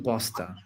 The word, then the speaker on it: Posta: Christian Posta.